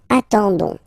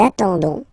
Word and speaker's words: attendons: nous, so O-N-S, okay, you don't pronounce the S, so you get only this on sound, okay, attendons, nous attendons, so we'll make